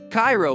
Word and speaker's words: Cairo: In Cairo, Illinois, pronounced Cairo by locals, you can find habitable houses for $15,000 or less.